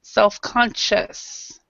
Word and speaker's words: self-conscious: Okay, when you have this IOUS, a lot of times we don't say the I. So in this respect, we'd say self-conscious.